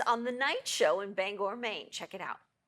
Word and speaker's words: Bangor: There's a certain sensitivity about how you pronounce the name of this city. Yeah, it's Bangor.